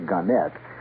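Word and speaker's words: Gannett: further one more here ganet or ganet they they prefer to pronounce a gunet Westchester newspapers starting Wednesday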